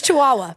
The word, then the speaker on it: Chihuahua: say back no I say chi it's Chihuahua by the way okay I think well I